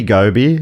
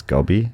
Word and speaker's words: goby: It could be goby. G-O-B-Y. How would you pronounce that? It's gobby, isn't it? Goby.